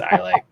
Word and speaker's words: Islay: Islay, I don't know which way is the actual pronunciation. I just know there is a wrong way to say it. It's Islay.